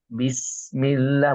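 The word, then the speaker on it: بسم الله: Nah itu qqalah ya Nah ini jangan jangan dipantulkan karena huruf Sin ini bukan huruf Qalqalah ya maka kita bacanya mengalir saja bis bism bismillah bukan bis bismillahak Bismillahirrahmanirrahim bab seperti itu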